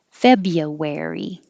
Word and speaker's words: February: the end wovens february forget about that r after the bee fabia february thrill thrill flew and